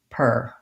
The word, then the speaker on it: particular: in the first syllable so even though there's an ar we say that ar as an er sound per per and you may